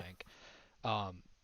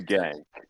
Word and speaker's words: Genk: Genk. I hope that's how you pronounce it. I don't want to have a moment like Hank had last week with Brug, but I'm pretty sure. I'm pretty sure it's a gang.